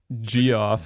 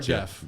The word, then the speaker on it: Geoff: how would you pronounce GEOFF? G off. GF. Yeah, it's not Okay. Geoff or Gotcha. Jeff.